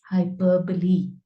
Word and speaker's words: hyperbole: is full of hyperbole this is pronounced as hyperbole hyperbole which is exaggeration you